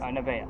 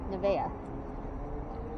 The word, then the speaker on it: Nevaeh: Nevaeh. Nevaeh.